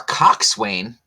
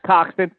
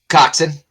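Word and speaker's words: coxswain: the first time our Cox Swain Wow first we had Lizzy big tits now we've got a Cox Swain this is getting weird pronounced coxon oh sorry yeah coxen I hope gar tries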